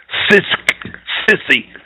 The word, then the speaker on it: Cestui: Let me spell that for everybody. You need to look it up. Cestui. Sissy.